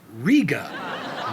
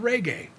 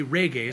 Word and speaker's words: reggae: She couldn't grasp how to say reggae, so as the conversation continued, she called it rigu and raga. Finally, to make it easy for her, I told her it's pronounced ragu, just like the spaghetti sauce.